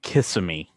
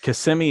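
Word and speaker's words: Kissimmee: gotta go fast that that one sometimes gets pronounced kissm kissm that I could see but KMI is how it's C said and so like whenever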